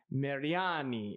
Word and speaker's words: Mariani: i say it wrong if you're an authentic italian mariani is how you're supposed to say it and when we were